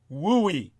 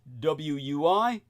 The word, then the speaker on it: WUI: blazes are textbook wui it's an acronym pronounced wooi or wui wild Urban interface those